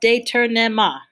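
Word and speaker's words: détournement: determa so it's pronounced deter nema it is a french word and its origins really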